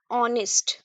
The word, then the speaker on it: honest: यहां आपका H silent है। तो आप इसको क्या पढ़िएगा? ऑनेस्ट।